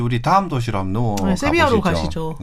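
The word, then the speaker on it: Sevilla: 이태리 사람이니까 이태리 발음으로 이태리에서는 얘기하죠. 세빌리아. 아, 세빌리아. 씨. 이 철자도 다르잖아요. 네네네. 그러니까 GLIA 세빌리아란 말이에요. 그런데 이 카스텔라노 그러니까 스페인어 공식 스페인어에서는 세빌리아에서 VILLA는 세비야가 맞아요.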